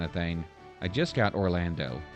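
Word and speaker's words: Orlandeau: I just got Orlando. Yes, it's pronounced Orlando, so I'm going to try him out.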